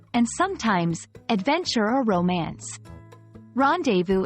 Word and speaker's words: rendezvous: Rendezvous is a term borrowed from French, pronounced rendezvous, and it means a meeting at an agreed time and place, typically between two people.